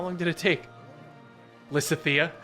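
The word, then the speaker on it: Lysithea: long did it take Lissa Thea instead of Liz Leah yeah Lysa Thea bring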